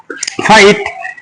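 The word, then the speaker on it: fight: নাইট, নাইট, আর আই জি এস টি, জিএস উচ্চারণ নাই, আর আই রাই, টিতে তো রাইট, আর আই রাই, টিতে তো রাইট। ফাইট, এফ আই জি এস টি, ফাইট।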